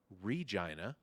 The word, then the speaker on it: Regina: Canada a very small city called let me pronounce this correctly Regina Saskatchewan and uh they are getting a Saturday